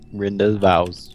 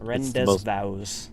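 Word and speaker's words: rendezvous: how I remember yep Renda vows Rend vows it's the French word ever yeah see I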